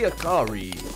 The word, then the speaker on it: Akari: Akari. His name rhymes with Atari.